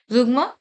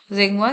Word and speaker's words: zeugma: जुगमा, sorry not जेंगवा, इसका pronunciation मैंने गलत किया है, ठीक है.